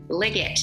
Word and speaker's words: Liggett: is actually with Liggett. Is that the way to pronounce it? That's right, hard G.